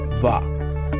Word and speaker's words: vin: And vin, V-I-N, is going to pronounce as va.